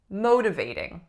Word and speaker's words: motivating: There are 4 syllables, right? And which one has the primary stress? Syllable number 1, motivating. Motivating. The majority of my clients do not put enough stress on this first syllable. So instead of motivating, it ends up sounding like motivating. But we want it to sound like motivating.